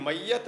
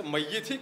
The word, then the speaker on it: मय्यित: नहीं, यह "मयात" नहीं है, इसे "मय्यित" कहा जाना चाहिए।